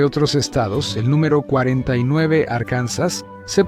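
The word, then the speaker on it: Arkansas: como sus guías y su acento único nos dio la pronunciación inusual de Arcansas en los años 1800. Un senador en realidad intentó que sonara más inglés como arcansas, pero para entonces todos ya decían arcansas.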